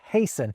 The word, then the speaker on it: hasten: We stop pronouncing the T's in words like castle and hasten, and the L's in folk and palm disappear for a lot of people.